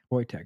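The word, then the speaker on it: Wojtek: So like I don't know that's kind of crazy but they said you pronounce his name boy. Voytech.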